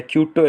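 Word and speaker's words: Quito: Ecuador की राजधानी को क्यूलो या क्यूटो इसको कहते हैं, सॉरी क्यूटो।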